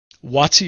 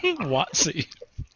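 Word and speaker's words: Waatzy: Watsy is spelled W-A-A-T-Z-Y. Watsy.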